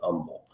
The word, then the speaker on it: Humble: It's spelled humble, Humble, but don't use the H when you're here. Just say humble.